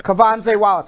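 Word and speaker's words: Quvenzhané Wallis: Kwavanzi Wallace. Did I pronounce her name right? Never say her name. I can. Yeah, Kwavanzi Wallace. I'm pronouncing her name right.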